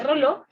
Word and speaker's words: Rayleigh: Recuerden que el efecto Rayleigh, o se escribe Rayleigh y se dice Rayleigh, ya lo habíamos estudiado cuando vimos eritrosedimentación.